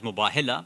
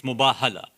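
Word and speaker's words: Mubahala: we say it or pronounce it as muba hillah but that's actually not correct arabic it's muba hala it's coming from babal mufaratha right so that would be the correct one asant okay so what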